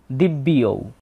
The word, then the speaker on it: দিব্যৌ: তবে কথা হচ্ছে এখানে যে জফলা আছে এই জফলা মূলত বয়ের সাথে অন্তস্থ জ যুক্ত অবস্থায় আছে, তাই বটাকে অর্ধেক উচ্চারণ করতে হবে দিব্যি ঔ, দিব্য ইয়ৌ, দিব্যিয়ৌ।